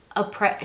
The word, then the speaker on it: après: Après. She said like the S was silent or something was silent.